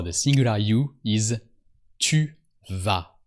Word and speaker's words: vas: And you go for the singular you is tu vas. And don't forget the automatic silent S that always comes with tu.